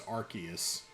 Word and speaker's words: Arceus: I mean, nobody's gonna Yeah, soft C instead of hard C. I think officially it's Arceus.